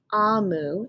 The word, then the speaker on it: Omu: Okay, so this is, and it says here, this is how you pronounce Amu.